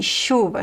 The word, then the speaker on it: chuva: The ch is pronounced as a sh just like the sh. Chave chuva chapéu Remember that is never ch the ch in Portuguese is never ch is always sh.